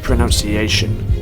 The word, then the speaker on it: pronunciation: Might I just say, great pronunciation. Wrong! By coincidence, the word pronunciation isn't always pronounced right. Maybe because of the verb form of pronounced contains the syllable noun, while the noun pronunciation doesn't.